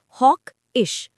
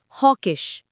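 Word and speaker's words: hawkish: Pronounce करो हॉक-इश। हॉकिश। हॉकिश।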